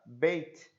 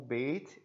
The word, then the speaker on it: beit: Então aí nós temos o beit, é a mesma consoante, certo? Ele é transliterado como um B e o som é B de bola.